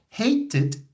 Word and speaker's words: hated: hate present hated past hate has only one syllable but hated has two syllables so it means that when you pronounce this sound you have to add an extra syllable to the pronunciation hate hated okay